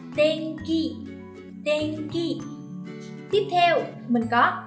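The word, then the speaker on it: 天気: nghĩa là thời tiết, âm mũi in đứng giữa và phía sau là ki. Ki thuộc hàng phụ âm K nên mình sẽ biến in thành ng và đọc là Tenki.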